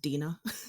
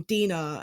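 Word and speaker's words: Dinah: I always I always I never heard it said so I always pronounce it Dena yeah which just take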